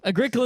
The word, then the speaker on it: Agricola: Anyway, so Agricola is what I'll say either way because that is our funny mispronunciation, or in Rim's case, correct Latin pronunciation, right?